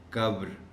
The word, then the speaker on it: قبر: ہم غلط بولتے ہیں۔ قبر کو ہم اکثر و بیشتر قبر ہی کہتے ہیں، قبر ہی پڑھتے ہیں، جبکہ لفظ ہے قبر۔ قبر، جیسے فجر کہتے ہیں لوگ، فجر کو